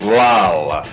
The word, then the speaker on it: lal: Instead of la or la, it's lal.